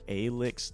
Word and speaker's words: ALX: It's pronounced ALX, though. So, yeah. Not ALX. ALX. ALX. All right. Well, thank you, ALX.